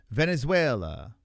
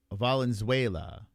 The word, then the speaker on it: Valenzuela: Venezuela. Valenzuela. Valenzuela. Is that how you say it, Marshmallow? Valenzuela. Not Venezuela.